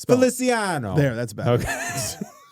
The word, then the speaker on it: Feliciano: That sounds like you are mispronouncing his name. Feliciano.